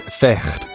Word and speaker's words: vecht: In Dutch, fight is vecht, pronounced with a guttural sound.